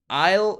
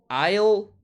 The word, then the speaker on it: I'll: I'll go. I'll, ¿ok? I'll go. Simplemente se pronuncia como una L.